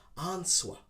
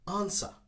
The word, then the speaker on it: answer: have a silent letter the w is silent but some people try to pronounce answer answer but in fact we don't need to pronounce the w simply just ignore the w and just say answer answer okay answer is